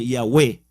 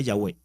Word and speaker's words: Yahwéh: y pronunciar en proclamar es en hebreo y yagüe serían como cuatro como cuatro vocales y ya v esa es la pronunciación yagüe entonces se escribe desde el hebreo con las